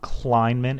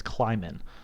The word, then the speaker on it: Kleinman: Kleinman V right case there is no first in before the em it's not Kleinman it's climbin so my apologies for